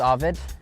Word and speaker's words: Arvid: the whole story so my name's Avid it's uh yeah that's how you say it arid but um my